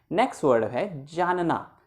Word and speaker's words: know: okay ठीक हो गया ना आप मुझे जानते हो तो क्या होता है नॉट known1 होता है वह साइलेंट होता तो इसको बोलते हैं नो नो नो नो करना